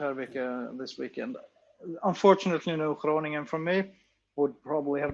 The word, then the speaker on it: Groningen: I love how you pronounce Groningen. It's very good. It's a nice G.